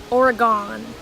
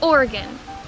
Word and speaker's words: Oregon: super angry is that tons of people on the east coast pronounce oregon oregon just dude it's oregon get it right there's so many people